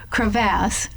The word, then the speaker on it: crevasse: So crevasse with a second syllable that rhymes with mass is a very deep, big crack, especially when in a glacier on the Earth's surface.